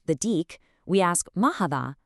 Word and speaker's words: هذا: First up, hada has a long a sound, but it's famously written without the vertical alif letter for that first a.